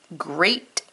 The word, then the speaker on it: great: today heart words steak great break here the ea is making a long a sound instead of an e sound that's why these are